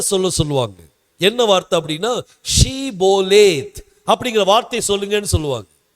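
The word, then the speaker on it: שבולת: சொல்லுவாங்க என்ன வார்த்தை அப்படின்னா ஷீபோலேத் அப்படிங்கிற வார்த்தை சொல்லுங்கன்னு சொல்லுவாங்க எப்ராயிம் கோத்திரத்துக்கு ஷே அப்படிங்கிற உச்சரிப்பு வராது அதனால அவங்க என்ன சொல்லுவாங்கன்னா சிபோலேத் அப்படின்னு சொல்லுவாங்க ஷீபோலேத்ன்னு சொல்ல மாட்டாங்க சிபோலேத் சொல்லுவாங்க சிபோலேத்ன்னு சொல்லியாச்சுன்னா அதுக்கு பிறகு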